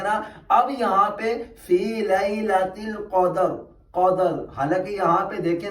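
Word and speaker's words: ليلة القدر: پہ فی لیلۃ القدر، یہ اس کا صحیح تلفظ ہے، لیلۃ القدر، قدر۔ اب دیکھیں یہاں پہ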